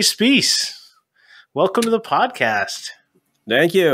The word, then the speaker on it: Specce: And despite how it's spelt, his name rhymes with peace. It's Jeremy Spies.